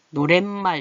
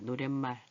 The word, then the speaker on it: 노랫말: 그래서 얘를 닮아서 노랫말 이렇게 돼요. 노랫말. 얘는 사이시옷이네요. 노래라는 말하고 말이라는 말이 합쳐서 니은이 덧난다. 니은 소리가 나는 거.